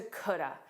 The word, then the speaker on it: could have: could have which is grammatical is reduced to coulda. Coulda is not a word. It is the way that the words could have are naturally pronounced in fast casual English.